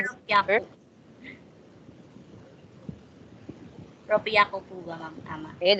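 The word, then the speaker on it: ろっぴゃく: Ropya ko po ba, ma'am? Tama. Okay, that's it. Sige po. Ropya ko.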